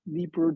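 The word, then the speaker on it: Dnieper: the neeper river that's Nipper they don't pronounce the d it's d-n-i-e-p-e-r so they're coming down the Naper River in the 8th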